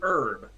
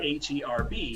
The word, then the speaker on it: herb: So herb is spelled H-E-R-B. So so herb is a great example of a word that we pronounce differently in British English and American English, because you don't pronounce the H, whereas we do.